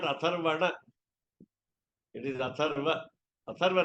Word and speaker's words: Atharva: Atharva Ragasya, not Atharvana. Atharvana, it becomes what we call Shakti Bhakti, Atharvana. That we know, actually the print also might be wrong. One extra letter is a syllable. So Atharva Ragasya. But basically, Nakaranta Pullinga Shabda. Last letter is M for Atharva. Generally, we make always mistake that we Atharvana Veda. We always say Atharvana Veda.